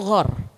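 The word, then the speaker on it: غار: Allah menyebutnya gua itu ghar. Ketika dua orang ada di ghar, Gor itu bukan gor. Nah, kalau bahasa Indonesia gor tuh ya, gedung olahraga itu ya. Kalau ini pakai gain.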